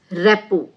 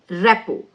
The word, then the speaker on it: rapport: Now, the next word is repo. See, the T is silent there. Repo.